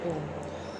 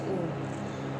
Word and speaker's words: Om: And when we pronounce Om, our two lips doesn't touch. Om comprises of three words, A, U and M.